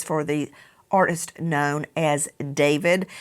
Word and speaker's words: D4VD: In hindsight, the title Romantic Homicide may not have been a good choice for the artist known as David. It looks like D4VD. It's David.